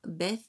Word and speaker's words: Beth: Donc là, c'est Alep, le H est muet, et là, Beth, alors je sais pas comment on dit Beth, la bouche, le B est prononcé, Guimel, le G comme guirlande.